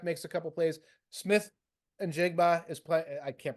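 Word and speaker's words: Smith-Njigba: Smith and Jigba is playing. I can't pronounce his name. You hit it. Smith and Jigba?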